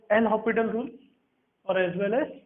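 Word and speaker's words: L'Hospital: Actual में S silent होता है, एल हॉस्पिटल रूल है। अब हम हॉस्पिटल ही बोलेंगे।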